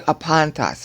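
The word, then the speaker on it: ἀπάντας: That whole clause to apantas at the end. Apantas. It's not accented on the last syllable. It's the second to last syllable.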